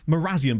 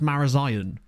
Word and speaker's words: Marazion: X like places like is it morazan but isn't it pronounced marazion and tintagel I love